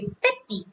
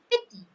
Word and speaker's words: petit: on this, and so some words have the not pronounced the last word like sha. We say sha, and then we say petty, petty. If it is not E in the petty, like PETIT, E is there, so we will say petty.